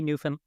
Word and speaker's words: Newfoundland: We'd say Newfoundland. Newfoundland. That's it.